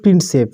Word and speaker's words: প্রিন্সেপ: Sorry, এখানে প্রিপে হয়ে গেছে। এখানে সঠিক উত্তর কি? James প্রিন্সেপ। উচ্চারণটা কী হবে এখানে? এটা হবে প্রিন্সেপ, ঠিক আছে?